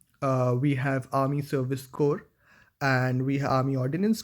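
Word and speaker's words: Corps: coming from a technical brand that is uh core of signals uh for sure the spelling looks like C RPS but it is pronounced at as core this is core of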